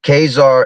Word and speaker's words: Khazar: Poland, which derive from Khazar and or Sid, I guess, because I think that H is silent.